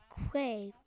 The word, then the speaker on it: Quade: Quade rhymes with J, so he has the power of J too, so I think he can.